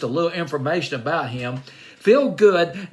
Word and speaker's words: Phil Good: Feel Good. Now it's not F-E-E-L. It's P-H-I-L-G-O-O-D. Feel Good.